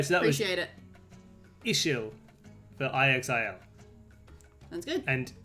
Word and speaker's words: Ixil: including Quiche, Kakshikel, and Ixil. Or Ihil. Again, I don't know about X Mayan is pronounced X's. like ish at the beginning of a word and sh anywhere else.